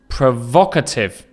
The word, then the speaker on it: provocative: Another word, provocative. Provocative. You can hear the stress again is on the second syllable.